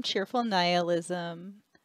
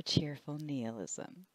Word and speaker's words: Cheerful Nihilism: Hi, it's Cynthia from Cheerful Nihilism or Cheerful Nihilism. Both of those pronunciations are correct.